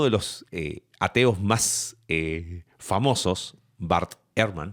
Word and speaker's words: Bart Ehrman: Uno de los ateos más famosos, Bart Ehrman, así se pronuncia, que antiguo cristiano que hoy ataca tiene una posición muy interesante de ataque.